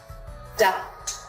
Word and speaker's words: doubt: The letter B is silent when it comes before the letter T. Date, doubt.